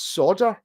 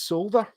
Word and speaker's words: solder: and in Texas it's solder right and he gets a lot of abuse because other Americans say it's solder they pronounce the L so in Texas it's